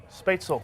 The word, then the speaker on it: Spätzle: Pronounce this for me again. Spätzle.